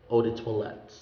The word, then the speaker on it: eau de toilette: also has the french origin it's odi toilet eau de toilette ah toilette means toilet because um before i